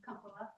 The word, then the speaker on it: Compula: or, how do you pronounce your last name? Compula. Compla. I always put the emphasis on the wrong.